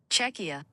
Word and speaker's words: Czechia: Czechia.